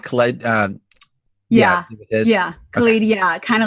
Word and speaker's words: Khaled: DJ Khalid. No. Oh, DJ. Yeah. DJ Khaled. Thank you. I was saying it wrong, but I can fix that up.